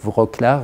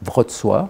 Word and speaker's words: Wrocław: Donc après différentes tentatives, etc., finalement, cette chaire est créée à l'université de, alors en français on dirait Wrocław, mais il prononce Wrocław, enfin c'est l'ancienne ville allemande de Breslau en fait.